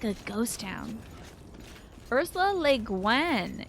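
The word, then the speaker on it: Ursula Le Guin: like a ghost town Ursa lean is how you pronounce it oh I've been saying Guan like pengan or something good omen this one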